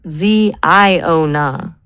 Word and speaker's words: Ziona: If we want something that feels biblical and prophetic, but is fresh enough to own on Google, what about Ziona? It's three syllables.